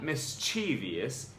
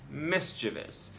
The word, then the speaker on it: mischievous: She says, you thought this one had 4 syllables when it really has only 3. It's not mischievous, it's mischievous.